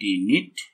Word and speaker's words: knit: तो HIT हिट KNIT नीट। देखो इसमें के जो है साइलेंट रहता है, ठीक है ना, ध्यान से देखना।